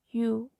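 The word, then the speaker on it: ㅠ: Igualmente como hicimos en las vocales U, igual tienes que redondear los labios U. Y aquí pues también es con la Y, que es así, sería como you, you, you.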